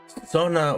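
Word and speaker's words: sōna: subjective or indicative foreign this is Sona with a long o so this is not a word for sun right oh maybe it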